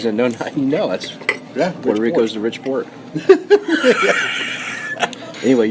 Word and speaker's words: Puerto Rico: it right no how I say it Puerto Puerto Rico Rico there you go Porto Rico I think